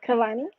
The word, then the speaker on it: Kelanie: please tell me i said it right yes kalani okay um you are an author and you